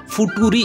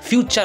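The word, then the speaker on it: future: আরেকটি important tips হলো যদি মিডিলে টি ইউ থাকে তো চ উচ্চারণ হয় এটাকে ফুটরি অনেকে বলে দেয় এফ ইউ ফু টি ইউ টু আর ইরি এটা কিন্তু ফুটুরি না এটা ফিউচার উচ্চারণ হয় এফ ইউ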